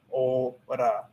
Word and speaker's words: ahora: ah and then ora, because la h is muda, it's silenciosa, it's silent. So if you know that the h is silent, you just cut that part out, and then you just say, or then you just pronounce each letter in that word. So that's just ora.